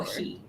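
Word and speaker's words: όχι: ohi.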